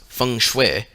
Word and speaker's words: feng shui: Chinese system of geomancy feng shui pronounced Fung Shui is the science of